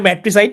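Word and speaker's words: matricide: murder of a mother এটা হচ্ছে ম্যাট্রিসাইড বা মাতৃসাইড মাতৃ দিয়ে মনে রাখতে পারেন মাতৃসাইড যদিও ম্যাট্রিসাইড উচ্চারণটা মাতৃ মানে দুঃখজনক যদিও আপনাদের মজা করে বলছি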